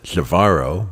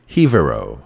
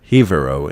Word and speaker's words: Jivaro: hevero in 3d i had been pronouncing this javarro but phonetics be damned it is actually hevero they actually do say it hebero in the movie but